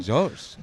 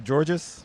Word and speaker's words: Georges: Well, yeah, but I actually like the, because it's Georges, technically. Yeah, Georges. But I like that extra syllable when you go Georges.